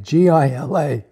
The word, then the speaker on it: Gila: Gila monster Gila monster is spelled this way GI LA is pronounced Gila but look at that animal it's